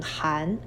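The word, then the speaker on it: 好: child on the right together this character is pronounced as ha means good Neha hello how are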